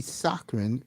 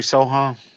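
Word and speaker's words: Sochan: And this kid, Jeremy Socren, that's the way you pronounce his name? Jeremy Sohan.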